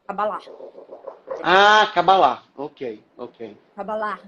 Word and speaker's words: Kabbalah: Ah, Cabalá. Ok, ok. Kabbalah. Aí tem é como se fosse um Tem um, Rzinho, quase. né, Cabalá. Mas é meio mudinho, assim, não é muito Cabalá. pronunciado. Enfim.